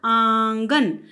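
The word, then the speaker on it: आँगन: आंगन, अब आप देख सकते हैं मैंने बोला आंगन। बोलते हुए मैंने नाक और मुख से उच्चारण किया, जबकि मैंने गन बोलते हुए सिर्फ मुंह से उच्चारण किया है, नाक की मैंने सहायता नहीं ली है, क्योंकि चांद बिंदु सिर्फ कहाँ है, आ के ऊपर।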